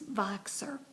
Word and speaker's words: Voxer: I also wanted to make this message to encourage all of you to use Voxer.